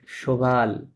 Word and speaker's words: cheval: ভেলো, à moto, মোতো, à cheval, à শোভাল, cheval, শোভাল, এখানে দুইটা syllable আছে, একটা এই 3টা লেটার